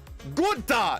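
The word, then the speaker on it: Günther: You gotta say it like a real German. Gunther, and then you got Clint Boyer.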